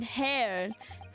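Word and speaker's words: Herr: is German for Mister it's pronounced like hair gotcha got hair hair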